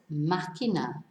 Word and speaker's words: máquina: Whereas máquina, it's not máquina. That would be how it should be pronounced if it didn't have an accent, with the stress on the penultimate syllable. But the accent on the A, the first A, tells us to stress the first syllable.